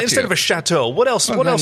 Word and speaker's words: chateau: So let's, instead of a castle, we'll have a chatty-ow. Right, instead of a chateau.